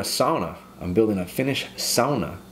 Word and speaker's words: sauna: i'm building a finnish sauna you gotta pronounce it the right way sauna not sauna sauna so i'm building